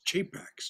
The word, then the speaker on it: capax: It's Chapax, not Capax. Chapax. Oh yeah, well that's the way a priest might pronounce it in church Latin.